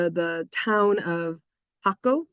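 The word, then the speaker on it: Jacó: like the town of Jaco is how you actually pronounce it in Spanish. The silent J, how we think of it as being silent.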